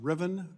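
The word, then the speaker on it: Rivian: anxiety you take a I think it's pronounced Riven pickup those things can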